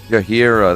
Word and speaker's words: Jaheira: Jaheira, that is it. Jaheira. I used to say it like fucking Shakira.